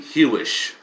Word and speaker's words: Hewish: Anthony Hewish, Nobel laureate in physics. It's spelt like Jewish, and he may be Jewish, but it's spelled Hewish.